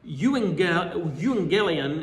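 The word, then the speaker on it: εὐαγγέλιον: It's uh euangelion as it's pronounced in Greek.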